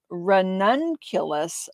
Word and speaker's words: ranunculus: to i googled a video on how to pronounce it so it is ranunculus romance is the name of the it's actually